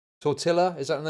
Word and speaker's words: tortilla: that Sorry, tortilla.